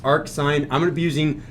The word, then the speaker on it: arcsin: Just know that it's pronounced arc sine.